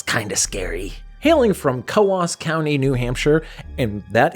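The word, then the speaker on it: Coös: Hailing from Kas County, New Hampshire. And that is how it's pronounced cuz I was going to pronounce it Kuz County.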